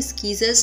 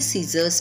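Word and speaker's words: scissors: सीजर्स में सी साइलेंट है क्योंकि हमने उसको स्कीजर्स नहीं बल्कि सीजर्स पढ़ा.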